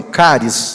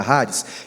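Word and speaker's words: χάρις: bem conhecida da gente a palavra haris ou Alguns falam caris né pronúncia Correta raris que significa graça ou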